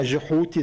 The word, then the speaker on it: جحوتي: وطبعا كان في بالنسبة لمصر القديمة جحوتي زي ما بننطق بالمصرية القديمة، أو توت اللفظ السهل تحوت، فهو الموازي له.